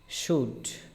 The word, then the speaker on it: should: এখানে মাঝখানে এল আছে, এলের কোনো উচ্চারণ হবে না, ঠিক আছে?